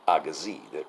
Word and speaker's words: Agassiz: And by the way, I had to Google how you pronounce Agassiz. There's a Z at the end of that name, but apparently you don't pronounce it, depending on where you are.